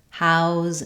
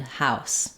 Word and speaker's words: house: these sets of words so there are a few words in English that can serve as a noun or a verb and that change their pronunciation even though they don't change their spelling so close and CL